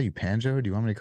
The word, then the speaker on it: Panjo: understand some girl repeated it and she said banjo was this a Spanish lady did you just say panjo and I want you to call me panjo from now on and then I caught on